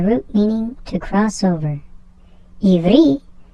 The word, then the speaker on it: Ivri: Ivri is how you pronounce Hebrew in Hebrew, but in Hebrew there is no mention that they speak Hebrew.